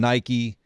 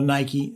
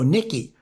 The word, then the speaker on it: Nike: I used to call Nike, you know, Nikki. That's how I, you know, I never knew how to pronounce it.